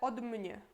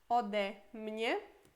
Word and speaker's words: ode mnie: Mas aqui, por exemplo, seria super ruim falar od mnie. Od mnie. Fica muito junto, ruim de pronunciar. Por isso, od virá ode, às vezes.